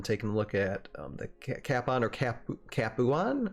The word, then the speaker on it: Capuan: a look at the Capon or cap capan how do you say that Josiah it's capan it's uh it's based off the city of kapua in the south of uh Italy there you go there's